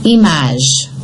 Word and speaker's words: image: But listen, image. Here it's pronounced. Why? Because you have a vowel after it.